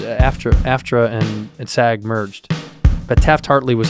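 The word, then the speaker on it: Taft-Hartley: After and SAG merged, but Taft Hartley was how you got into the back door.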